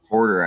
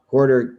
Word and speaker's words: Huerter: Huerter? How do you say that guy's name for Atlanta? Porter, I think.